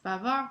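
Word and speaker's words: bavards: Bavard, bavard. Notice we don't pronounce the S at all.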